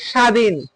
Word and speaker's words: স্বাধীন: বফলা মনে রাখতে হবে শব্দের আদিতে কখন বফলায়ের উচ্চারণ হয় না শব্দের মধ্য বা পদতে